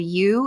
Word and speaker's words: ewe: sheep is called a u ewe and a lot of times if you do a turn illegally you could do like a uturn and ewe U is also how you pronounce the female sheep so that's where that